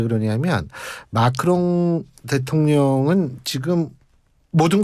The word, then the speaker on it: 마크롱: 저는 이 마크롱 대통령 얘기할 때마다 내가 발음을 제대로 하고 있는 거죠. 왜냐하면 마카롱이 자꾸 나와요. 아, 그러게요. 마카롱 좋아하세요? 좋아합니다. 예. 다음에 한번 저희가 마카롱과 마크롱 큰 차이가 있죠.